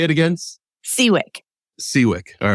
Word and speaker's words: Siwiec: is your last name it's seawick nothing like it's spelled so don't even worry